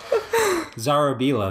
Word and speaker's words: Zarobila: Zarobila, that's how my dad pronounces it.